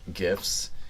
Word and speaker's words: GIF: made GIFs, he did a Reddit AMA, and then someone was like, so how's it pronounced? And he said it's actually pronounced GIF, but I don't care.